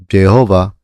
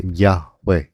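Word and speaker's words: Yahweh: which is dati pronounced Jehovah pero eventually you know Hebrew scholars understood na walang J na sa Hebrew alphabet but rather it's it's really more like a yun kaya Yahwe yun ang naging pronunciation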